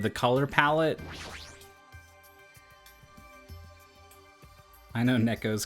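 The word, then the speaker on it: ねこ: the I guess you there's kind of a tendency to say it kind of like it has two KS as an English speaker for Neco like maybe even like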